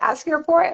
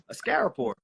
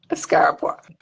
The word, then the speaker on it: Askaripour: I've been pronouncing it Askaripour, and I was like, you said it, and I was like, that's not even close. No, that's not far at all. Askaripour. Askaripour.